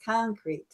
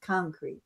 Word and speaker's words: concrete: thank you okay yes concrete first syllable stress concrete yes thank you okay